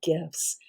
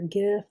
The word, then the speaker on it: GIF: This week we're going to take a look at animated GIFs. It's actually pronounced either GIF or GIF. You'll see it both ways.